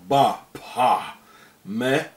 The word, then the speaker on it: Baphomet: Therefore the name should be pronounced without the T at the end. As the early Templars were French, and in French the T at the end is not pronounced.